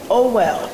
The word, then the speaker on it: OWEL: Is that OWL? It's called OWEL. OWEL.